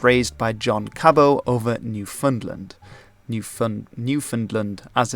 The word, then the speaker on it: Newfoundland: George was raised by John Cabot over Newfoundland, as it's pronounced.